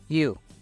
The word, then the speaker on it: you: tú usted o ustedes you quiero que veas que puse entre paréntesis y latina u esto es porque en inglés la y suena muy suave como una I latina nuestra en español y u no y